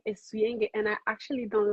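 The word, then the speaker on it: Souyenge: So everybody, her her artist name is spelled s o u y e n g e, but it is pronounced suen.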